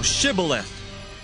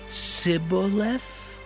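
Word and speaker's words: Shibboleth: If he said, Nay, then said they unto him, say now, Shibth, and he said, Sibth, for he could not frame to pronounce it right.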